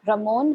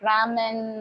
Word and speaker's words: Ramon: I Ed his name Ramon he was so surprised that I actually pronounced his name right he said you would I thought you would say something like Ramen or like the noodles because most of them